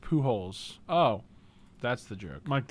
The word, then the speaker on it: Pujols: Pujoles is pronounced Pujols.